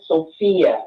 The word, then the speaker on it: Sophia: The That's the way it is spelled, and that's the way it's pronounced. And if you can get her name right, you can get mine right because it's the same name, Sophia.